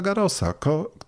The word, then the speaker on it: Garrosa: tutaj to francuską firmowy po polsku powinniśmy mówić po prostu Rolanda Garrosa korty Rolanda Garrosa i tak dalej słowem nie boimy się końcówki SP francuskim tak jak Andrzej Morozowski